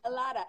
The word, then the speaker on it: a lot of: The v sound at the end, we don't say it. We just say alada.